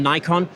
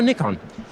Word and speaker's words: Nikon: It's actually either, confusingly. In the US, our US team definitely say Nikon, but in Europe, and in fact in Japan, where I believe the correct pronunciation must be more readily felt, it's Nikon. It's Nikon.